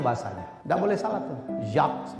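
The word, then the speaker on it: Jacques: gak boleh salah tuh Zak bacanya bukan jakes Zang jin itu bacanya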